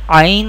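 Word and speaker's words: عين: Ain Ha pronounced from the middle part of the throat.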